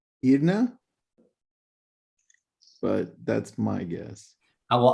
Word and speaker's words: Iryna: How would you pronounce it? Iryna. Iryna is okay. Irene in Espanol. Irene. Oh, Irene.